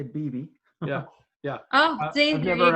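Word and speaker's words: bebe: gonna i don't know i think it's baby but i'm not sure that was our guest we had to look it up it's actually bibi yeah yeah oh i've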